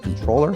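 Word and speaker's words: comptroller: who is our controller which is spelled comproller but I was always told it was pronounced controller.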